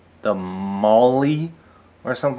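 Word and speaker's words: MOLLE: So M O L L E, but it seems to be pronounced not mole, but Molly.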